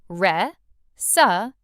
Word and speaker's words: recipe: A lot of learners pronounce the last part like pipe. Recipe, but it's actually softer. recipe. Let's practice re sup together.